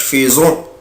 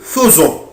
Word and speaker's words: faisons: خلي بالي ما بقولهاش faisons بقولها faisons.